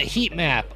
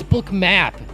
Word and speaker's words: Bookmap: map Square book math I I can't tell you how many people get the name wrong they call it heat map or they call it bookmark or something it's it's book map I know it's not